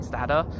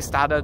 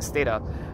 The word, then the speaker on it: Stata: people it was named after, surnames are actually pronounced Stata rather than Stata. But it's what most people say. So I say Stata normally, but I'm giving the tour, so I'm saying Stata.